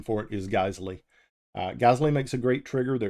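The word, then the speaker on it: Geissele: that use the GLE stuff um some people pronounce it gazelle gazy it's the proper pronunciation for it is gley gazley makes a great trigger they're expensive but they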